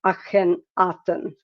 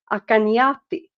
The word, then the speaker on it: Akhenaten: But Akhenaten, his name is spelled like Akhenaten. But it's more likely that his name in that time were pronounced something like Akanyati, which so instead of Aten, it's Yati. But it's spelled the same way.